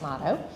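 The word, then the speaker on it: Mado: And then as you go from Grange into this new phase, which is called Motto, we pronounce it Motto.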